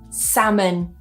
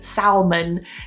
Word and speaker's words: salmon: And the last one here, salmon. Salmon. Now, I have heard some people say salmon. This is quite a common accent thing as well.